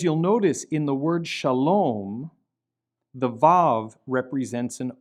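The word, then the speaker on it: שלום: But as you'll notice, in the word Shalom, the Vav represents an O vowel. And so sometimes the Vav will not function as a consonant at all, but it will represent an O vowel. Shalom, shalom.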